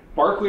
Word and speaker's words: Berkeley: Um she's um she won the uh Barkley award from the British Micological Society which is spelled Berkeley uh for um as an